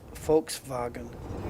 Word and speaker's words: Volkswagen: yeah Volkswagen is like the Germans pronounce the v's like the F and the W's are like the v's so it's actually folks folks vagen Volkswagen um that's the